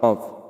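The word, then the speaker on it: كاف: গোড়া বরাবর উপরের তালুর সঙ্গে লাগাইয়া দুই নোক্তালা কফ জিহ্বার গোড়া বরাবর উপরের তালুর সাথে লাগিয়া কফ উচ্চারণ করিতে হবে কফ কফ কফ কফ ক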